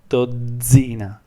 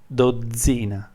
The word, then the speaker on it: dozzina: So you pronounce this word zaino, zaino, and this word dozzina, dozzina, dozzina. So you have a lot more emphasis on here. It's the same sound twice, okay? Just because you have a double consonant.